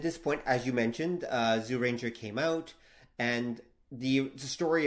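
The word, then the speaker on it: Zyuranger: I should point out it can be pronounced Jew Rangers it should technically be Zoo Ranger like there's actually there's a weird sound there that we're kind of skipping around so anyway regardless so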